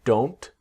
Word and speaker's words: don't: And we're going to take the T silent. Okay? I am not sure, but I do not think so. I'm I'm not sure, but I don't think so.